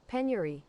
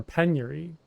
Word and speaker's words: penury: How do you pronounce it? Penory. Penuri. Yeah. Penery. Penury. Or penuri. I I've never heard that word before.